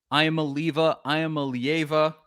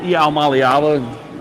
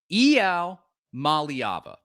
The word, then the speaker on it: Iamaleava: And this is how we've been saying Iamaleava, something like that, along those lines. And this is apparently how his name is pronounced. Here with 5-star quarterback Nico Iamaleava. Nico, what? Excuse me? He said Iamaleava.